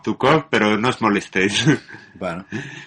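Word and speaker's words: Zhukov: palabras del Mariscal suuk es que se pronuncia Como así pero más o menos se lee como zukov pero no os molestéis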